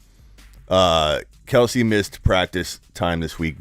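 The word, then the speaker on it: Kelce: Travis Kelsey, or Kels, however you want to pronounce his name now that he's corrected the world. My name's actually Travis Kels, but it's okay. You can keep calling me Kelsey.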